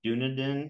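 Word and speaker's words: Dunedin: can you describe the dunaden I think that's how you pronounce it yes I've been corrected so many times it's supposed to be an emphasis on the E like dun Pace um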